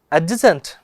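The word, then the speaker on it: adjacent: है मैंने ये वाला, अब कभी भी ए ए और जे के बीच में अगर डी आता है तो उसका प्रोनाउंसिएशन हम लोग नहीं करते हैं, उसका प्रोनाउंसिएशन पॉसिबल ही नहीं होगा, उसको हम लोग नहीं करते हैं।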